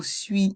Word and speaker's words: suis: Dans le mot suis, il y a le son oui avec les voyelles U et I. Le S est aussi muet.